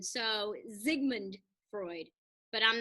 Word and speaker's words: Sigmund: german number two is s's are pronounced like z's in german so sigmund freud but i'm not